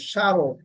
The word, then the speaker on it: স্মরণ: নেই স্মরণ এখানে দন্ত সর ম ফালা ছিল সারণ মর উচ্চারণ হয়নি তালিব সরতে ম ফালা ছিল শসান